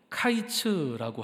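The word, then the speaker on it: קַיִץ: 여름 과일은 카이츠라고 하고요, 끝은 케츠라고 합니다.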